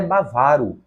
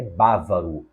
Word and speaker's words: bávaro: temos a última palavra não é bavaro é bávaro o sujeito que vem da Baviera é bávaro a palavra proparoxitona próxima questão a ortoepia